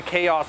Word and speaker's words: Khaos: I'm calling it a Khaos with a K-A-O-S. They spell it K-H-A-O-S.